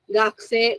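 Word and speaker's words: 学生: Gakse, the pronunciation, the U sound is very, very, very small, very subtle.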